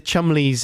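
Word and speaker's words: Cholmondeley: seen like you know the chumleys and the uh fanshawes didn't you do you remember that dance company the chol mondelez and the featherstone it's like when someone's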